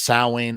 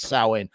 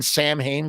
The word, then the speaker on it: Samhain: oh my God no it's pronounced sa obviously don't don't be one of those nerds